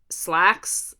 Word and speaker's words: Slaxx: And so Slacks is spelled SLAXX, but it is about a pair of pants, like slacks, like a pair of demon pants, basically.